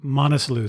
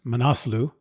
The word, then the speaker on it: Manaslu: the conversation with Tony I referred to to it as the monu circuit or the monu track after talking to Rajan I realized that it's pronounced manasu throughout this introduction and